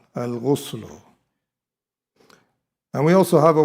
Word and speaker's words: الغسل: Al-ghusl, it is pronounced here with the dhamma and the ghain. Al-ghuslu.